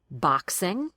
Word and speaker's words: boxing: The K sounds like an X. So pronounce it that way in boxing.